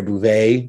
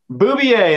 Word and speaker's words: Bouvier: right i am here today with mr pierre bouvet bouvier bouvier there you go yeah i say right i